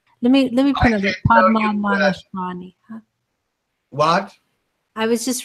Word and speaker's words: Padmanabhaswamy: Padmanabhaswamy. What? I was just repronouncing the temple. Would you do that again? Padmana Bahashvami. If it's not Shvami, it's Swami.